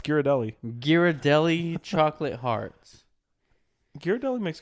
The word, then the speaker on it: Ghirardelli: It's Ghirardelli.